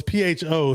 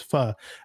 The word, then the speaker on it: Pho: with the Vietnamese soup well it's Pho so some people call it but it's actually the proper way to say it's fur a lot of people